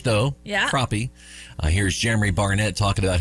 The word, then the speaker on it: Crappie: And you think about how the fish crappie is spelled. Yep. Yeah. Pronounced like the species of fish, though. Yeah. Crappie.